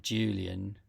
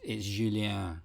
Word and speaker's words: Julien: So it could be a scenario about Julian Julian is an admin on the Cucumber.js repo. And it's actually, to be pedantic, it's Julien. He is French, so it's spelled with an E, not an A.